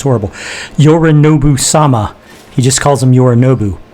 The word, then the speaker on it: Yorinobu-sama: He doesn't refer to Yorinobu as Yorinobu-sama. Sorry, bad, my pronunciation's horrible. Yorinobu-sama.